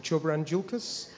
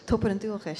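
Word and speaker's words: Tobar an Dualchais: So, I mean, you're part of, I'm going to get this pronunciation, Choberan Dulcas? Toberan Dulcas, yeah. I was close.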